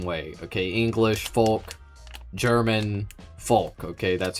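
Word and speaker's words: Volk: The V, the German V is pronounced like the English F.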